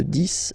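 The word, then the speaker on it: dix: De 10 à 20. Okay, so let's start now. 10, okay, so remember, final X here is pronounced like S. 10, 10, okay?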